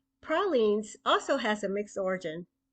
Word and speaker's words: pralines: jumbalaya I know that some people people say pralin but we invented the term in our particular version of the candy so it is correctly pronounced pralines pralines also has a mixed origin originally French but